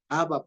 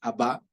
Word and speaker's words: Abba: Abba, ya no es Abba, es Abba, Padre, ya es Abba, primero. Entonces, primero que no es Abba, con el acento en la primera A, sino en la segunda.